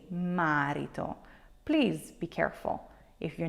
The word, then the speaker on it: marito: your second to last so the accent here will be on re you will say marito and not marito I often hear people say marito please be careful if